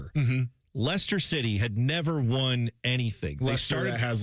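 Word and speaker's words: Leicester: Lester City had never won anything. They started it has like 28 letters. It looks like Lchester. Yes. But it's Lester is how they say it.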